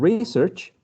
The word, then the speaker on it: research: like that and and research i would definitely place the primary stress re right re search for a noun teacher is there is